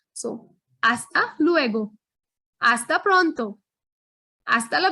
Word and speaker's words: hasta: to you all that the letter h is never pronounced it's always and always silent in spanish so hasta luego hasta pronto hasta